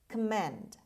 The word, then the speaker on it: commend: word number eight command command command o after c is pronounced as schwa command and the stress is on the second syllable on m means praise